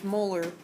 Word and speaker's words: molar: 1.95 L of 781 capital M which we pronounce Moler 781 molar sucrose solution so